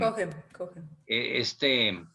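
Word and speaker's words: Cochem: Esta es la edición que les decía de la edición del padre Martín de Cogem, se pronuncia Cogem. Cogen.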